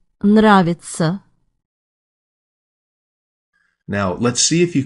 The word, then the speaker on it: Нравится: That's a tough pair of consonants at the start of that second word. You have an N and a rolled R. That's very hard to say slowly. Listen again and also note how the emphasis is on the first syllable.